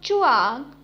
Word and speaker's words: zhuang: The next Pinyin is ZHUANG, has a pronunciation of chuang, chuang.